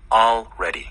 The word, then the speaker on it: already: 근데 천천히 들어보시면 all, L이 먼저 나오고 그 다음에 R already. 그렇죠. already. 네. 그래서 우리 왜 alright. alright. 그리고도 alright. alright. 하는 분도 예전엔 많았습니다. Sure. 근데 그거 아니고 right가 돼서 사실 L 발음은 거의 발음이 안 되다시피 해요.